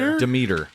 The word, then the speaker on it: Demeter: Demeter.